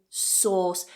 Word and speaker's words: sauce: then the second word not Source saw sauce just one vowel sound there source Worcestershire sauce so